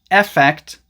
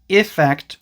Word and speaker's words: effect: So yeah, the noun is spelled with an E, and it's usually pronounced effect, effect, or affect.